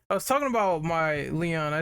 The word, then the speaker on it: Lion: whatever his name is it's the kids it's pronounced Leon I used to call him lion as a kid but it's Leon yeah Leon is pretty good as well he